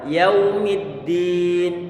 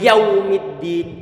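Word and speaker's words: يوم الدين: dibaca begini Jangan dibaca yaw yaw yaumiddin tapi yaumiddin berarti bukan yaumid tapi yaw yaumiddin ini wau sukun Sebelumnya kan wafat hanya Berarti ada sifat Lim di situ ada sifat-sifat link mudah untuk diucapkan berarti suara terdengar dengan dengan ringan denganmu dengan mudah tanpa ada penekaran di sana enggak boleh yaumuddin tapi yaumiddin sehingga nanti untuk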